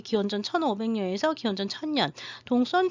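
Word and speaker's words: Đông Sơn: 손이라고 옛날에는 많이 나왔었는데요 요즘 베트남 발음을 중요시 해서 동선으로 이제 한글 표기를 하고 있습니다 여기 동선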